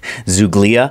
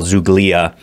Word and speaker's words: zoogloea: I think that's how you say it, zoogloea.